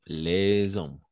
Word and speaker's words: les hommes: jouent au loto autant que les hommes. Voilà. Et ici, on va faire la liaison. Les hommes, parce que c'est un H muet.